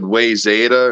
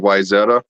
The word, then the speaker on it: Wayzata: That or the way my cousin's ex-husband always said Wayzata instead of Wyzetta.